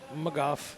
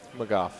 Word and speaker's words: McGough: mind I've been saying Miguel oh yeah no McGough McGough yeah okay MC spell it again MC geo ugh okay that makes